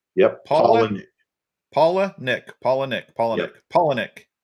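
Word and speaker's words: Palaniuk: you asked he said you take two names paula and nick yep paul paula nick paula nick paula nick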